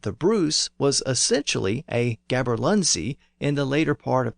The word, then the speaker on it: gaberlunzie: is a gaberlunzie, spelled Gaberlunzie. But again, that Z was substituted for the older letter yogh, and the word is still pronounced as Gaberlunye in some older Scots dialects.